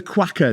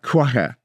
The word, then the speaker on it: cueca: No, it's spelled Cueca. Quacker. So yeah, it's not spelled like quacker like a duck.